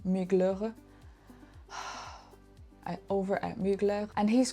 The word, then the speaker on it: Mugler: Casey Kadwalader over at Mugler Muer that's a French brand and I should learn to pronounce it properly so Migler over at Mugler and